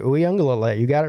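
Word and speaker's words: Uiagalelei: Uyangalele, is that correct? That's right. Uyangalele.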